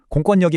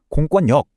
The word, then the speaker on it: 공권력: 정말 흥미롭게도 공권력 같은 일부 한자에서는요. 반대로 힘이 세다더는 그 리을이 니은으로 바뀌는 비음화 현상이 일어나요. 그래서 공권력이 아니라 공권역 이렇게 발음됩니다.